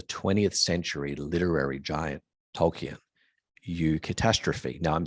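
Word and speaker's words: eucatastrophe: writings of the 20th century literary giant tolken U catastrophe now I'm saying U but it's pronounced it's spelled EU catastrophe this is a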